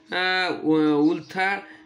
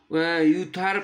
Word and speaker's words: Uther: হলো, like his ফাদার উলথার পেন্ট্রাগন, তার বাবা উলথার পেন্ট্রাগনের মতনই হলো, মানে এটা প্রোনাউন্সিয়েশনটা ইউথার পেন্ট্রাগন হবে, সরি, ইউথার পেন্ট্রাগন, পেন্ট্রাগন।